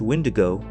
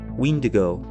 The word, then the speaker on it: Wendigo: The name of this entity varies across dialects, sometimes pronounced Wendigo, Windigo, or Wetiko, but its essence remains chillingly consistent.